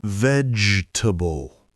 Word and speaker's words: vegetable: vegetable and please please 2025 let's stop saying